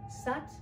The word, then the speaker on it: Sat: Sat, it rhymes with but.